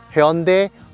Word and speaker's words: Hyundai: 那这台车真正的念法是 Hyundai Tucson，对，Hyundai Tucson。